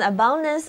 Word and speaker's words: abundance: The tree yields an abundance of fruit.